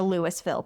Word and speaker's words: Louisville: And I'm sorry if you're a Lewisville person. I grew up and called it Louisville. So that is how I'm going to pronounce it.